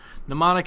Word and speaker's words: mnemonic: Just mnemonic, it doesn't sound the way it's spelled, really.